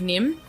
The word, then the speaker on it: Niamh: Nah, it's like Nim. Nim? Yeah. Geaney. It's Niamh, isn't it Nim? Yeah, maybe Nim.